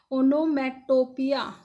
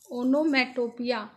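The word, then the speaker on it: onomatopoeia: अच्छा, ये figure of speech जो है इसका प्रोनाउंसिएशन होगा ओनोमेटोपिया। ओनोमेटोपिया, ओनोमेटोपिया क्या होता है?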